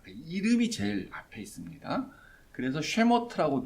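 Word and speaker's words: שמות: 그래서 쉐모트라고 발음하는데 그게 원래 이제 히브리어 성경의 제목입니다.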